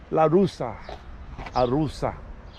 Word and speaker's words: Għarusa: Arusa. GH is not pronounced, A-R-U-S-A.